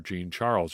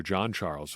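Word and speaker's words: Jean-Charles: also looking better was shamar gene charles or john charles whichever pronunciation you like to go with there he too i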